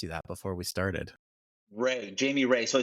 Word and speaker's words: Rea: should have asked you that before we started Ray Jamie Ray so I sound like a country singer who just got a D why Jamie Ray Jamie Ray Jamie Ray like it all sounds